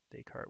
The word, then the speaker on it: Descartes: first we have Descartes Descartes with a silent yes at the end because I guess he was French I suppose and his notion